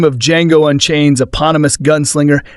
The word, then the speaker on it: Django: The D is silent, though the name of Django Unchained's aonomous gunslinger sounds